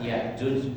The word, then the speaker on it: Ya'juj: ini termasuk jumhur ya, mayoritas membacanya tanpa hamzah, biduni hamzah. Jadi bacanya dipanjangkan Yajuj, Majuj. Akan tetapi kalau qiraah yang kita pakai biasanya dari riwayat Asim ya, kita bacanya itu Ya'juj wa Ma'juj, ada hamzahnya.